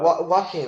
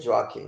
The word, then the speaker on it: Joaquin: leto joaquin phoenix yeah walking i said jockey because i could never pronounce his name i pronounced it j